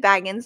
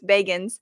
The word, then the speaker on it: Bagans: And because I always said Baggins, a lot of people did, and then he's saying no, it's Bagans, so it's really hard to remember Bagans now.